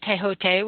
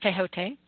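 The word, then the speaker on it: Thoth: Many also in the Greek and Egyptian civilizations include Ibis, Chonsu of the Thebes, and Tehote, which is T-H-O-T-H, but it's pronounced Tehote.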